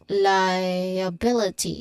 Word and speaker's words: liability: sound when you say liability. So for first syllable lie, there's a diphthong I sound here, so it looks like lie.